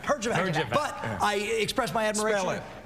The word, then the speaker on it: Herjavec: Herjavec. Herjavec. But I express my admiration. Spell it. Pardon me? Spell it. H-E-J. No. Closer. Herjavec.